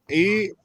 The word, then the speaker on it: Eckankar: ECKANKAR. Eckankar. That is not one syllable.